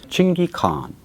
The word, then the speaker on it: Chinggis Khaan: time and he mentioned 24 more times Chingy khan which reflected the the exact pronunciation of Chinggis Khaan at that time and king he can